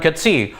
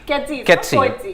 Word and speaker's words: Coetzee: I mean, Gerald Coetzee, Australian fans will remember him because he's put Travis Head out for half the World Cup.